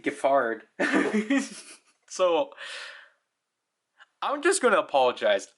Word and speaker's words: Giffard: See, I pronounce it as Giffard, but it's supposed to be Giffard.